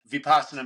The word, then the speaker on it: vasana: followup question was so how do you say that vasana how am I saying that correctly vasana meditation yes okay so you were you